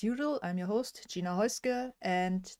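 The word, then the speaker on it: Häußge: I'm your host Gina hka and this is actually how you pronounce my last name I know many people are surprised that there is no be in there and yeah welcome um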